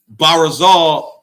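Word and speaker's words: ברזל: were interchanged changeable like barol is how you say iron in the Hebrew but when the when the children of Israel learned Aramaic it became parazol.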